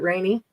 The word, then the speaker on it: Renee: It's spelled Renee, like French. Oh, right. Oh. But he pronounces it Rainy.